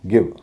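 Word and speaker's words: give: इन नियमों को नहीं मानते जैसे जी आईवी गिव अब एल आई केई का पैटर्न है इसमें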